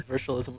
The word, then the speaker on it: Virtualism: I'm gonna mispronounce it on purpose. Sorry, I know it's Virtualism.